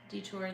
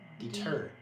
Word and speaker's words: deter: Yeah, I think having the animals out really helps detour them too. Yeah. Deter. Deter. That's a detour? new one. Is it spelled like detour? No. Deter. Different. Deter. Helps deter them.